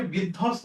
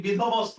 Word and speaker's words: বিধ্বস্ত: কোনটাতে বফলার উচ্চারণ ঠিক আছে? দেখো আমরা এটাকে বিধ্বস্ত বলি নাকি বিধবস্ত বলি?